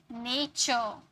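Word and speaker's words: nature: rule number five है यदि किसी वर्ड में टी के के बाद यू आरई आता है तो उसमें उसे हम टी को च में प्रोनाउंस करते हैं फ्यूचर नेचर यू आरई आता है ना लेक्चर टी के बाद यू आरई आया तो उसे चर में प्रोनाउंस किए लेक्चर र लास्ट में अगर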